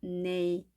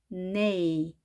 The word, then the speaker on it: neigh: neigh. GH는 발음이 되지 않습니다. neigh, neigh.